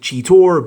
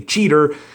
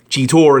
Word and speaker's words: Cheetor: Deluxe Class Cheetor, or how I've always pronounced it, Cheetor, because there is an O in his name, as you can see there. So I've always pronounced it Cheetor, and maybe because I've been so used to saying it that way, I prefer the sound of that than just calling him a cheater, but that is what